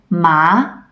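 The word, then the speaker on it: 麻: the syllable for example ma is a second tone ma means hemp now repeat after me for the rising tone ma ma useful if you're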